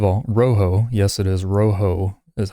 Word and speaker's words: Rojo: Rojo yes it is Roo is how it's pronounced it is uh Spanish for red um even though it's